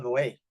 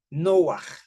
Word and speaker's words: Noah: Noé. Pues Noé en realidad se llamaba Noah, que significa algo así como descanso, reposo, alivio, Noah.